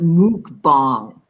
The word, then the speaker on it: mukbang: you could do a mukbang you know okay you guys I I say mukbang mukbang I have heard some of the experts in the field pronounce it mukbong like it was from Thailand I I don't see